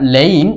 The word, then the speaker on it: laying: সো এটা হচ্ছে একটা ট্রানজিটিভ ভার্ব, লে, লেট, লেট, লাইং, আর লেইং, উচ্চারণটা হবে লেইং, লাই, লে, লেইন, লাইং।